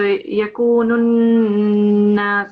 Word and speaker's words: يكون الناس: Here we have shadda, so you have to make it heavier. So yakunun nas, and it's a nasal letter as well. So we have to have a nasal sound as well as a greater emphasis here.